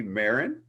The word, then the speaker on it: Marin: the lone star road runners we have maron did i say it right this time yes